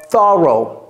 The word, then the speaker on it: thorough: Claire did a thorough. Encore une fois, la langue entre les dents.